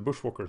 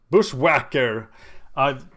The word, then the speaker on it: Bushwhacker: The interesting question is, when is the right time to do the Bushwalker thing? Bushwhacker! Power T gave me a course on how to pronounce it.